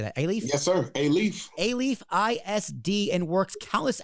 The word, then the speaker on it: Alief: Yes, sir, Alief.